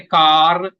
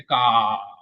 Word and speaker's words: car: R in the beginning, yes, pronounced. R at the end, not pronounced. We don't say car, we say car.